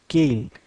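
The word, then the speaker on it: Keil: 32 bit controller এবং কেইল এই জিনিসগুলা আচ্ছা কেইলের সঠিক উচ্চারণ সম্মত কাইল বাট আমি কেইল বলে অভ্যস্তকে কেইল বলি প্রথমে আমি একটু স্পিডটা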